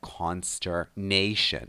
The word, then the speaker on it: consternation: We pronounce this word consternation with stress on nay, so consternation, and it goes with a preposition to, so to the consternation of someone.